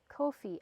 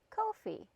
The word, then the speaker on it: Ko-fi: So I searched it up at like 1 o'clock in the morning, and they said it rhymes with no fee, Ko-fi. So, pardon me, oh my goodness. So it is pronounced Ko-fi.